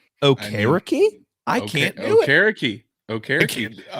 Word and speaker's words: Okereke: That's how Bobby Okereke wants it said, and that's how he said is the correct pronunciation.